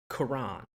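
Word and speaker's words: Coran: Like it Yeah, no, it definitely they pronounce it like Quran. It's Quran. spelled like coral, but with an N, so Corin.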